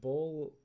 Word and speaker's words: Baal: Well, you see, Bahal, or Baal, however you wish to pronounce him, Muhammad.